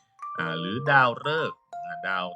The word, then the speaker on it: ฤกษ์: เอะอะ ที่ นี้ มา ดู การ ออก เสียง แบบ ที่ 3 จะ ออก เสียง เป็น เลอ ตัอ รอ ๆ มี อยู่ คำ เดียว มี คำ เดียว คำ ว่า ฤกษ์ ฤกษ์ คำ เดียว นะ โลก จำ ง่าย มี อยู่ ครั้ง เดียว ที่ ออก เสียง เป็น สระ เออ ออ่าง รอ ออ กอ